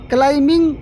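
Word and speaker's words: climbing: यहां पर B silent है। क्लाइंबिंग the trees.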